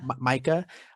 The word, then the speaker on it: Micah: pronounce the name right is it mieka Micah yeah Micah I love that she